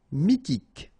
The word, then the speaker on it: mythique: Mythique. Remember, Q-U at the end, K, okay, and then Y is pronounced like I. Mi, H is not pronounced. T, K. Mythique. D'origine.